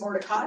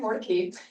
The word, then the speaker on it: Mordecai: I assumed it was Mordecai, which is what the more traditional sort of Hebrew pronunciation of this name, but it is in fact Mordecai.